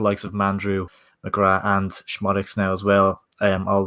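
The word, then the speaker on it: Szmodics: Yeah, and obviously we mentioned Lenny says it's pronounced Schmodics.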